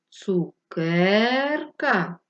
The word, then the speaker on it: цукерка: складів скільки голосних звуків поставимо наголос запитаємо це цукерка який склад ми довше протягували так другий Отже другий склад наголошений надрукуйте слово цукерка відступивши